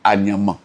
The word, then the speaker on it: Anyama: Et dans la prononciation « Ha Nyama », je veux dire plus tard, c'est devenu « Anyama ».